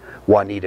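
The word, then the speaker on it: Wauneeta: They lived in Juanita, Nebraska, which is out towards Sterling and across the line. It's spelled W-A-U-N-E-E-T-A, Juanita, because we can't spell Spanish words.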